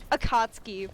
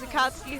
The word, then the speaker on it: Akatsuki: was log horizon i want a cosplay um akatsky one of these days i think is that how you say her name the um the check the check the uh the the assassin chick is akatsuki her name did i say that right um